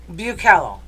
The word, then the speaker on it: Bucalo: Pronounce it again. Okay. Bukello.